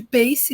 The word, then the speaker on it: PACE: a gente chama de PACE, né? Mantivemos a pronúncia em inglês, que é um acrônimo para positivo, ativo, claro e energético.